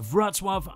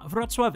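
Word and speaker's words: Wrocław: and a museum of caricature number two varazov pronounced vratov vrtov is the fourth largest city in poland built in the medieval period the city covers several islands and maintains several beautiful bridges and stunning architecture vratwav has been busy racking up recognition lately in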